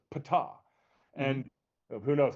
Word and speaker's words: Ptah: And then and one of them is Ta, which our guide pronounced as Ptah.